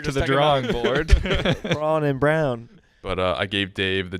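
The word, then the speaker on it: Braun: assists for christian brown it's spelled brawn i really don't like how it's pronounced brown i know yeah why because it's spelled to b a-u-n yeah yeah but what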